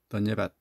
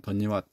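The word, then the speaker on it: धन्यवाद: 던예밭 또는 던예왓 뭐 이게 이걸 발음할 때가 이제 조금 이제 뭐 어떨 때는 이게 W 발음이 되기도 하고 V 발음이 되기도 해요. 그러니까 이제 이거는 그때그때 좀 애매한데 뭐 가운데 발음 정도로 생각하시면 되는데 그냥 뭐 어떻게 해도 뭐 서로 이해가 될 테니까 그냥 그 중에 하나 받아주셔야 돼요.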